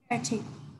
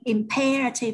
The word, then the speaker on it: imperative: Imperative. A priority, an urgent need. Imperative nha các bạn. Đó đọc là imperative. Imperative. Nhấn phần 2 nha.